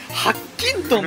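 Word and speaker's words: 白金豚: せん、プラチナ、ハッキントンと読みます。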